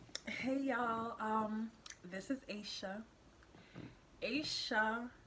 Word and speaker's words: Aisha: Aisha is how you say my name. Not Aisha, Aisha.